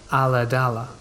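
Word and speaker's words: Ulladulla: i was about 10 years old at the time we lived in a small rural town pronounced a la dala on the south coast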